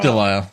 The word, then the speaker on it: Lisle: It's Lisle, yeah. And I've been looking at this thing for about a week or so, and it's a non-standard, like World War II military standard Lisle.